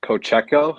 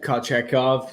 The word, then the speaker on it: Kochetkov: And then obviously, I can't pronounce this. Kocheko? How do you pronounce his name? Yeah, Kochetkov. Yeah, some Yeah, shit like that. Kochekov.